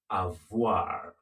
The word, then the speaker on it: avoir: Remember how to pronounce that? Avoir.